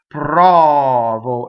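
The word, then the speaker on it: provo: So when you think about the accent or the stress, prɔvo, it's on the first O. The first O is open, right?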